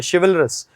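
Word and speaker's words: chivalrous: Gracious, शिवेलरस, बहुत अच्छा शब्द बता रहा हूं मैं आपको, शिवेलरस। ची नहीं है ये, शी है, इसका उच्चारण शी होता है, शिवेलरस।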